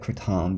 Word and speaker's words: Kratom: and I call it Kratom because that's the correct way it's pronounced in Thailand where it originates Malaysia Thailand and Indonesia